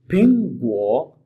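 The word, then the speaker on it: 苹果: Next word फिंग गो, फिंग फिंग। दोस्तों फिंग के शुरू में देखें ये है, दिस साउंड है, ये साउंड जब भी हम प्रोनाउंस करेंगे with a little aspiration, फिंग गो।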